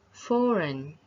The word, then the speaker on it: foreign: then the next is foreign you do not pronounce the ge there and then glue you